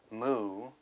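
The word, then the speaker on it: མུ: We would just pronounce it mu.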